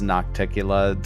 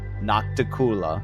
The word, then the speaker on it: Nocticula: every time it gets brought up somebody says nocticula somebody usually Spencer replies with noctula which is how we pronounced it was we thought it was pronounced